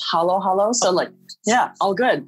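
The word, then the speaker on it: halo-halo: think of it like in the philippines we use short vowels so yeah there's not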